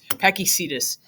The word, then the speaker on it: Pakicetus: a paky catus or I don't know how to Cactus cus cetus cedus pakicetus I think that's how you say it um which is